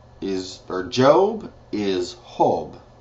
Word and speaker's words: Job: nemas Esther is eser hob is or job is hob spelled exact same way just said instead of the J it's pronounced as H hob Psalms is salmos